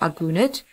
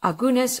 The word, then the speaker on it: Agunot: Keshet Starr is the CEO of the Organization for the Resolution of Agunot, or in short, ORA, an organization that fights for the plight of Agunas, or alternatively pronounced Agunot.